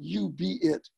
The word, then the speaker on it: UBEIT: set of programs that we're calling You Be It. And it's in contrast to the UBI, and it's spelled UBEIT.